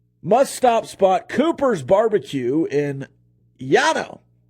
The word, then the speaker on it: Llano: Must-stop spot, Cooper's Barbecue in Llano. I think they actually call it Llano, but it's spelled Llano. I'm going to say it Llano.